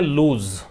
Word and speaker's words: lose: अच्छा, इसका pronunciation लूज होता है। इसको पढ़ते हैं, देखो मैं लिख देता हूं, LOSS को पढ़ते हैं लॉस, ठीक है। LOOSE को पढ़ते हैं लूस, और LOSE को पढ़ते हैं लूज।